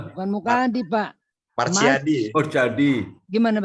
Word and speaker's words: Machyadi: Bacanya gimana Bukan, coba? Pak, bukan Mukadi. Bukan Mukadi Pak. Marsyadi.